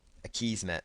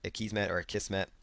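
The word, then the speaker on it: Akismet: And then there's going to be another plugin here called a Kismet or a Kismet, depending on how you want to pronounce it.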